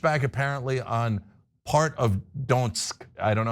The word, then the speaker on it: Donetsk: Trump pushed back apparently on part of Donetsk. I don't know how to pronounce this, sorry, okay? And so. Donetsk, yes.